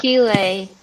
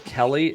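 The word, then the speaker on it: Céilí: of these years I may learn how to pronounce it correctly. But in the meantime, I'm just going to... Keeley. That's what I thought. But... I thought it was Kelly, and then I thought it was Kaylee, and then it might have been something else.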